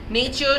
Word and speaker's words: nature: Nature should not be pronounced as nature, N-A-Y-C-H here, but as nature O with three syllables, N-A hyphen T-Y-O-O-R hyphen U-H, nature, nature. That was a Middle English accent.